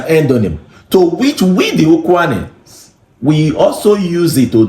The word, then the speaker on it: Ukwuani: That Kwale, it's the pronunciation the colonial masters could make out of Ukwuani.